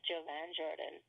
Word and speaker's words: Jovan Jordan: Next week, we have our first guest, which will be, how do you say his name, Alexa? Is it Jovan Jordan? Yes. Yes, the sexy and delicious Jovan Jordan.